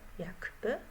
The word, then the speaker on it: jakby: udźwięcznienie czyli na przykład w wyrazie jakby piszę k jakby ale w wymowie tok zmieni mi się w g a ponieważ mój Narząd mowy nie jest w stanie wypowiedzieć szybko wyrazów jak by nie zmieniam nagie dlatego udźwięcznienia k do G zjawiskiem odwrotnym jest